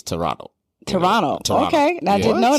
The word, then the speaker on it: Toronto: there it's like you you don't pronounce the t it's toronto toronto okay i didn't